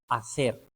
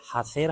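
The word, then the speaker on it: hacer: एच हमेशा silent है Spanish में, जिस तरह से आसेर, यहाँ पे हासेर हम नहीं कहेंगे, हम कहेंगे आसेर करना। एलादो, हेलादो नहीं कहेंगे, कहेंगे एलादो आइसक्रीम।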